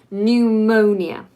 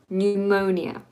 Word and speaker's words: pneumonia: from Latin but anyway pneumonia pneumonia so ignore the P and just start with the N and and pneumonia is